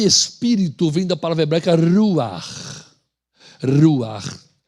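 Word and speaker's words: ruach: O nome espírito vem da palavra hebraica ruar. Ruar. R U a c h. Não pronuncia ruash. Porque no hebraico ch no final não tem som de shim, tem som de r.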